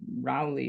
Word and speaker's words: Rowley: stageable, whereas stuff like Rowley or Rowley, depending on how you want to pronounce it, isn't quite as well known.